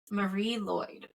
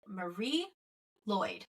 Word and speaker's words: Mari Lwyd: of Cryptids as well um so mine is Marie Lloyd yeah that's how you pronounce it Welsh is weird so I'm going